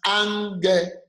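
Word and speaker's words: ἄγγελος: going to pronounce again I am going to pronounce Unger because the first gamma would be pronounced as a noon so that is the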